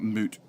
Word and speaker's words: moot: I know in Australia is pronounced mute point, not moot.